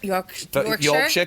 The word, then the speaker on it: Yorkshire: Yorkshire, good. That's From good pronunciation.